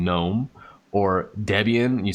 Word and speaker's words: Debian: ridicule you because you don't understand how to pronunciate certain terms like gnome or instead of saying gnome or debian you say deviant you say open susie instead of open souza